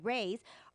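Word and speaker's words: Rui's: party or special occasion you will see why rays are you I apostrophe s spell Rey's Shanghai Bistro is truly the best Chinese restaurant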